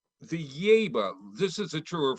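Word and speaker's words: Yaeba: The Yeba, this is a true or false question. Okay. The Yeba look, and it's spelled Y-A-E-B-A, crowded, crooked tooth smile with accentuated canine teeth.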